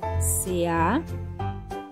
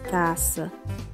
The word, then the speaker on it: casa: posição intervocálica, ou seja, quando o S aparece entre duas vogais, esse S ele assume a pronúncia de Z. Por exemplo, na palavra casa, escrevemos C-A-S-A, porém não falamos caça, falamos casa, porque ela está entre